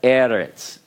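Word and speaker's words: ארץ: Now, what I wanted to show you is that this particular word is stressed not on the final syllable.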